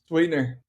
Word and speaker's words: SweetNur: SweetNur. SweetNur. Oh, just so like yeah, put some sweetener in your life, man.